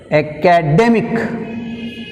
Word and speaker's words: academic: Academic, academic, academic, day 2, mic 1. Second syllable from the end, చివరి నుంచి రెండోది ఏంది?